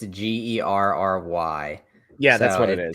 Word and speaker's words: Gerry: It's Gary with an E. But it's spelled like Jerry. It's Gerry.